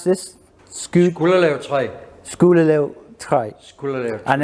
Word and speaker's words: Skulderlev-træ: And how do you pronounce this? Skulderlev-træ.